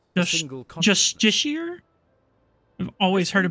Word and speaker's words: Justiciar: Justiciar? I've always heard it pronounced Justicar.